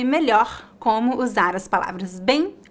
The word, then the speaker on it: bem: de mim para praticar bem bem a letra e fica nasal e temos um leve ditongo bem bem não há o